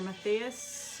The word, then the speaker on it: Matthias: So now I believe this is with the new lead singer Matthias, or Matthias is how you say it.